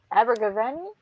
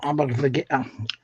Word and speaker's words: Abergavenny: See, Wayne says his mom met Christopher Baggins in Abergavenny. Am I pronouncing that right? I don't think so. Abergavenny. You got me saying Abergavenny. Abergavenny. Abergavenny. Abergavenny. Okay. I had the stress on the wrong syllable.